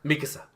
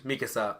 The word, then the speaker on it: Mikasa: attack on titan visa Mikasa so people use Mikasa which is the actual Japanese translation and they'll do Mikasa Mikasa which is the way to put emphasis on things goddam you stop clapping